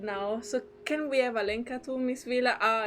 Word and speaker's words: Alenka: Ah, that's the way to pronounce it. Oops. Alenka. It's been so many episodes and I always got it wrong.